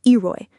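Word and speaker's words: EROEI: And maybe his most critical point is E R O EI pronounced Eeroy.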